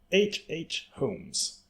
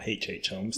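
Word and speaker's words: H. H. Holmes: already but i didn't h.h holmes or hh homes depending on how you like to pronounce the letter you have heard of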